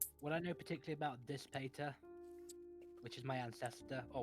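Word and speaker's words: Dispater: i'm this i guess this patter d-i-s-p-a-t-e-r this peter that's how you say it the lord of death second layer of hell uh diss peter you would not know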